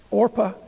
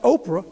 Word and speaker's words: Orpah: died and left only naomi and her daughters-in-law orpah and ruth not oprah but orpah now oprah understand was supposed to